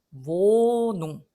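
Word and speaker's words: Wohnung: 그러면 얘는 묵음이 되고 모음은 그 대신에 얘가 갔네. 얘가 안 갔으면 나는 자음이 두 개나 나오니까 단모음이 될 뻔했는데 얘가 가셨네. 그래서 나는 장모음이 되는 겁니다. 모농. 자, 요 왜는 우 발음이 아니고 독일어에서는 무 발음이 나고요. 그 다음에 요거는 뭐 영어에서도 응 발음이 나니까 짐작하시기 어렵지 않아요. 모농, 모농이 됩니다.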